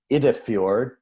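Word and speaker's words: Iddefjord: This is Creature from Idefjord, if I pronounced that correct.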